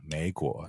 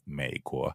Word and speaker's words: 美国: By far, the most common way to mispronounce it is up and down, 美国, instead of 美国. I call this the 3-2 tone swap.